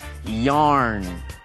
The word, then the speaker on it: yarn: chocolate candies and cookies，也是同样这种用法，有很多一颗的这种巧克力的糖果，这个时候 candy 变成可数的。后面来学打呵欠的 yarn，y-a-w-n，它的发音跟 y-a-r-n 的那个纺线织毛衣的那个纺线很像哦，那个是 yarn，差了一个卷舌音 yarn。另外年轻 young，年轻的。我们来看下一段的对话。